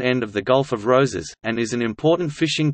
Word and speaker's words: Roses: Roses, Catalan pronunciation, Ars, Spanish, Roses, Spanish pronunciation, Roses, is